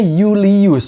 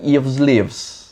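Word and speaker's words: Iulius: bukan ABG kayak pendahulunya i-nya tuh jadi konsonan jadi J terus v-nya itu jadi u jadi bacanya Yulius bukan ylies Kemarin kan kita udah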